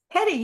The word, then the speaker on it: Hedy: saying that right Edy Hedy yes that's actually quite remarkable that is how you say my name and nobody ever says it I know it's not headle because I've seen Blazing Saddles um I've heard that